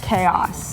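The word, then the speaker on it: k-os: Number 5, I have a little Canuck hip hop for you called Chaos. That's K-O-S. Yes, pronounced Chaos.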